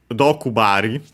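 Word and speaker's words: 毒針: Dokubari.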